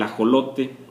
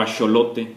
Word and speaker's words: ajolote: de lo que es el ajolote o acholote Porque también se escribe tanto con j como con x y bueno después